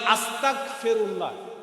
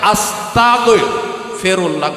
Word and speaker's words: আস্তাগফিরুল্লাহ: যদি বলেন আস্তাগফিরুল্লাহ কাপ দিয়ে, দেখেন কিন্তু উচ্চারণে গন্ডগোল হইলে খবর আছে। এটার উচ্চারণ হচ্ছে আস্তাগফিরুল্লাহ গাইন।